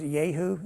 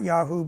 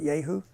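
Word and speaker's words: Jehu: in chapter 9 where ji who if you look at uh at is yahu in in Hebrew um not yaho but yahu um he's going to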